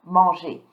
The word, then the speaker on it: mange: So, don't pronounce the E, je mange, don't pronounce the ES, tu manges, il mange, elle mange, on mange.